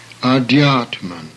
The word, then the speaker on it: Adhyatman: The next word has an aspirated D followed by a Y, which most people have difficulty in pronouncing. Thus, Adhyatman, the Supreme Self.